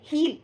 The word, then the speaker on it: he'll: it he will and you have to say heal how we have to pronounce it heal he'll definitely help me